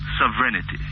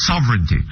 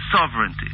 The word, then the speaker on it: sovereignty: bear with me uhhuh sovereignity H sovereignity you said no sovereignty sovereignty yes sorry yes our sovereignty